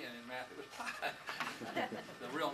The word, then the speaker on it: pi: in Greek it was P, and in math it was pi. The real name of the letter is P. It's spelled P-I, and that's a long I pronounced E.